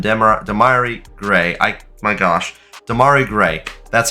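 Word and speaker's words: Demarai: for him and damari gray I my gosh Demari gray that's how you say his name my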